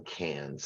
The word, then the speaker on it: Cairns: three night stay in Cairns and it is pronounced cans by the way you ignore the r uh and of course